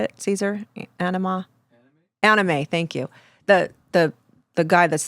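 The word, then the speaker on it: Anyma: And I'll see these snippets, and one, it was at Anima. Is that how you say it, Caesar? Anima? Anime, thank you.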